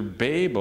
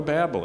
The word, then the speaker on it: Babel: Well, did you know the dictionaries have two different pronunciations? It's either B-A-H-B-E-L or B-A-Y-B-E-L. So it's either Babel or Babel.